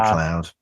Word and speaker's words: MacLeod: I think it's uh, McLeod.